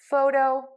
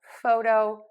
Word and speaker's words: photo: with the word photo we have the stress on syllable number one photo photo photo yes I am pronouncing